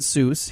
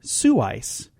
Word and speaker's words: Seuss: He did not pronounce it Seuss. He pronounced it Seuss. So we're all saying his name wrong. It's Dr. Seuss. Okay. Not Seuss.